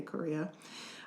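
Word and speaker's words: chorea: It's spelled C H O R E A Korea.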